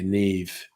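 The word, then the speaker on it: Niamh: yes um not understanding how the irish language has incredibly different pronunciations to anglo english so yeah neve is um and you know ceo barn is actually siobhan um and yes that that is that is also a good point salimi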